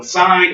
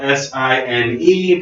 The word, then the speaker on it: sine: So sine is spelled S-I-N-E, pronounced sine. If you say sin, I will laugh at you and make Catholic jokes.